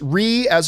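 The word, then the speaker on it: Reyes: pronounce my name right it's Ria's in red red and the word yes res arez okay interesting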